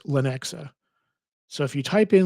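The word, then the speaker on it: Lenexa: It's pronounced Lanexa. So, if you type in Lanexa, Lanexa, Kansas.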